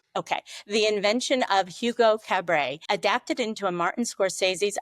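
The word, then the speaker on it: Cabret: New York Times bestseller, The Invention of Hugo Cabra. Is that pronounced right? It is. Okay. The invention of Hugo Cabay adapted into a Martin Scorsese's Oscar-winning movie Hugo.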